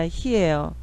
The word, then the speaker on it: he: 그러면 해 이게 아니라 he예요. he. 그래서 또 hi라고 쓰는 분도 있는데 아니고 he입니다. he.